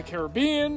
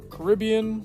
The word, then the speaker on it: Caribbean: or Pirates of the Caribbean or Caribbean depending on how you say it throughout this new games